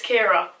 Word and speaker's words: Chiara: a thing people knows pronounce my name wrong it's Kira Kira so she said favorite